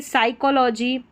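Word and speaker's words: psychology: Number 51 पर है पी एस। इसको स पड़ेंगे। पी एस साथ में रहता है बड़ी-बड़ी स्पेलिंग्स में और स इसलिए पढ़ा है क्योंकि पी साइलेंट है।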